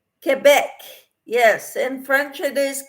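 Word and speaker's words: Québec: Robert says okay Sandra and it says it's pronounced Quebec yes in French it is Quebec I think I'd be shot for calling it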